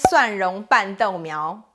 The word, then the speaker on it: 蒜蓉拌豆苗: The word of the day today is 蒜蓉拌豆苗, garlic tossed pea shoots.